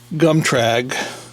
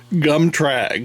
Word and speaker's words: gum trag: down so I use gum tragg believe it or not gum tragg that's how it's pronounced and that's just a